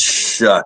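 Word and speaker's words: Shough: Either way, it's pronounced shuck like corn.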